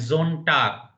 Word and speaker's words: Sonntag: S at the beginning Samstag, in German Sonntag. is pronounced like Z. So please remember the pronunciation will be Samstag. Z, Samstag. And Sonntag.